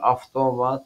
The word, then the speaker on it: avtomat: bilirik söz bzi sözl v harfi FI kimi telaffuz olunur avtomat avtomat avtobus avtobus sonra bunlara